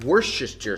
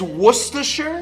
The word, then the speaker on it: Worcestershire: We're gonna be putting in some Worcestershire sauce.